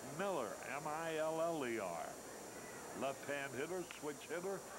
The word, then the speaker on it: Mueller: He spells it as if it should be pronounced Mueller, M-U-E-L-L-E-R, but he pronounces it Miller, M-I-L-L-E-R.